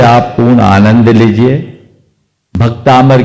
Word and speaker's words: भक्तामर: लोग बोलते हैं वैसे ही संस्कृत में भी उच्चारण करते समय इन बातों को ध्यान में रखना जरूरी है जैसे कल हम बोलेंगे भक्ता मर प्रत मल मण प्रभा अब भक्तामर बोले भक्तामर